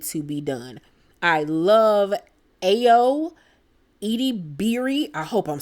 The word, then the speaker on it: Ayo: be done I love ayo 80 Beary I hope I'm saying her name right I know I'm not but I believe her name is pronounced Ayo she plays Sydney on